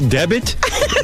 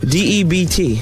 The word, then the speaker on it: debt: A special debit? Debit? Spell the word. D-E-B-T. All right, now spell it out.